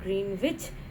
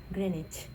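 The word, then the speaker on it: Greenwich: इट इज़ not pronounced eight ग्रीन विच इट is pronounced as ग्रेनेज।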